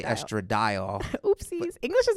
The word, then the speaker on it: estradiol: Yeah, I say estradiol.